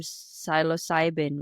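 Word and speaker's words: psilocybin: amazing so I think you mentioned the term silos cybin right am I producing it correctly absolutely pronouncing okay yeah so so this this type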